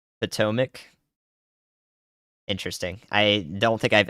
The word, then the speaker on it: Potomac: You're telling me to say Potomac when it's mac at the end of it, like mac and cheese?